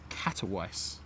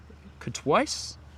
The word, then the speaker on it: Katowice: But our next departure, Wizz Air A321 Neo out the door off to the place that I can never pronounce properly. Katowice. Katowice?